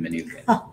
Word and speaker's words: Mnookin: it's very personal but i love that you pronounce the m in manuka you know it's efficient after all your dad studied economics who would want to waste a good consonant and maybe now that